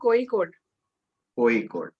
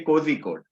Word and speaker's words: Kozhikode: pronunciation of your college it's iim coe code oa code so basically people say cozy code but it is wrong so the local as